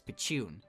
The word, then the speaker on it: pichun: The sound effect's onomatopoeia is pronounced as pichun, and both the sound effect and word are used and referenced a lot.